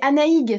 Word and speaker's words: Anaïg: C'est Anaïg, c'est breton. Anaïg.